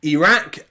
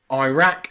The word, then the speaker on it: Iraq: the UK will say Iraq and Iran okay so here the I and the r are two separate syllables and they are Ira or IRA okay Iraq and Iraq Iran